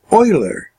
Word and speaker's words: Euler: think you'd pronounce that euler but in the german is euler it's like oil oh i L er